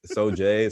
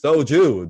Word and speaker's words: soju: he like the soju he kept mispronouncing it every time like you know so jay so jews and i was like it's soju daniel i know you're watching